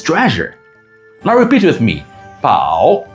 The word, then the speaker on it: 宝: Now repeat with me, 宝 in Mandarin or ho in Japanese.